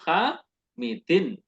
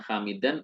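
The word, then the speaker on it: حَامِدٍ: Kitabu Hamidin, bukan Hamidan ataupun Hamidun.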